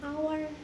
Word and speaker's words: hour: Karena hour ini adalah silent H atau huruf H yang tidak dibaca, maka pengucapannya tanpa diawali huruf H. Jadinya hour.